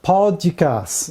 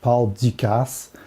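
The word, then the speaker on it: Paul Dukas: on the program so paul dicasse this is what he looked like and yes you do pronounce the s on the end of his name even though that sort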